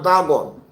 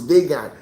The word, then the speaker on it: Dagon: You could see that the great apostle Paul was serving a deity called Dagon, what you people call Dagon. The correct pronunciation is Dagon.